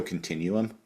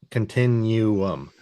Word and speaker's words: continuum: Continuum, spelt with 2 U's, pronounced continuum.